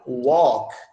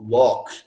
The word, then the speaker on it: walk: mas, enfim, essa palavra, quando eu tenho o LK, ela fica bem inclusa na sua garganta, ela não vai ser pronunciada com toda clareza. Ó, walk, walk, não é walk.